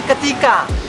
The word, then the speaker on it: KTAK: Jadi itu kan tulisannya KTAK ya, jadi ternyata dibacanya ketika.